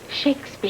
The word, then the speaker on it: Shakespeare: Shakespeare. Shakespeare.